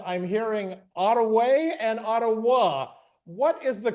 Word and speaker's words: Ottawa: Canada or even Michigan they'll say Odawa and so there's a variety of different pronunciations of uh the tribal name but historically again Ottawa was how um tribal members said it fantastic I'm going